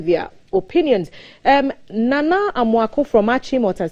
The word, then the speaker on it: Achimota: So it's Achimota. So perhaps your old school should take it up and insist that we actually pronounce the name of the town the way